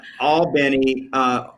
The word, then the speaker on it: Albany: looks like looks like cairo right and then all benny albany new york is pronounced in georgia albany georgia so i i